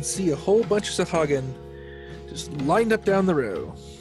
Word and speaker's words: Sahagin: pronounce that? Oh, Sahagin.